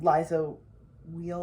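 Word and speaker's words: Liza Weil: like we didn't bring back the band um liza wheel is that how you pronounce her name yes love her well i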